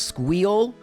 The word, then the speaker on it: SQL: SQL, which is apparently pronounced Squeal, and they even have a really interesting Linux course.